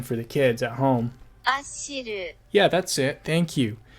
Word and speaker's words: Achyll: I know that I'm going to say the name wrong, I've asked Google to tell me exactly how it's said. Ashiru. Let's say that again for the kids at home. Ashiru.